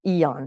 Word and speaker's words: Eon: use is called our Eon patch AEO n is how it's spelled eons and eons ago and the reason is